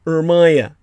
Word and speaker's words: Urmia: Iran, of course, being Aryan land, not far from the Andoric Lake Ujmi, or Urmia, as it's pronounced, and Tabriz, the capital city of Iranian-occupied Azerbaijan, where in 1850, the great religious leader called the Bab was martyred.